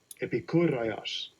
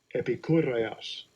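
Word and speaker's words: Ἐπικούρειος: G1946 says, let me hear how it's pronounced. Strong's G 1946. Epikureios. Epikureios.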